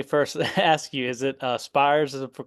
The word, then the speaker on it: Spyres: well let me first ask you is it spes is for correct pronunciation SP yeah sorry my phone just okay problem okay to turn that off oh no problem so yes the name is spes of the band and uh so the last